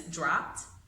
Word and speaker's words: dropped: So because drop ends in a P, drop, then we are going to pronounce the past tense, dropped. We're going to pronounce it with that T sound at the end, dropped.